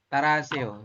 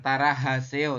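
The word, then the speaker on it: 따라 하세요: Jadi taraseo seperti itu, bukan tarahaseo tapi taraseo. Jadi hanya itu samar ya Oh, Yorobun.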